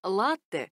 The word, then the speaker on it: latte: о напитке под названием latte скажем несколько слов о нем ударение в этом слове ставится на первый слог оно пришло к нам из итальянского в котором произносится именно так latte и переводится как молоко